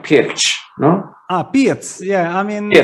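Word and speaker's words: Pirc: okay here's another one we always used to say pick the pick defense but it's not Pig right like there's an accent over the sea it's like pitch yeah I mean yeah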